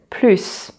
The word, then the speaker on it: plus: And finally, there's a third way to pronounce the final S of the word plus.